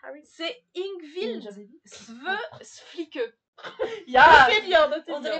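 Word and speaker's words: Yngvild Sve Flikke: à le prononcer. C'est Ingvild Sveflike.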